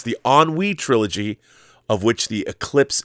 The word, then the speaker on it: ennui: The word ennui, like it's spelled like ennui.